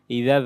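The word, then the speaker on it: إذا: ইদা জাল জিহ্বার আগা থেকে উচ্চারণ হবে, নরম করে পড়তে হবে। জবর পর আলিফ, মাদের হরফ টান হবে।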